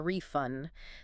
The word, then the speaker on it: refund: As a noun, I want a refund.